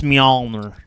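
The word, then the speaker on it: Mjölnir: It's Mjolnir. Okay. Well, in the South, we say Mjolnir.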